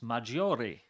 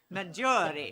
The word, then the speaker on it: Maggiore: he was first elected, pronouncing it with indeed 4 syllables instead of 3, and substituting on this committee has taught me the error of my ways.